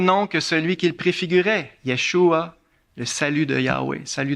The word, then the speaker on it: Yeshua: là vous avez ici comment ça se prononce Yeshua ça s'écrit même en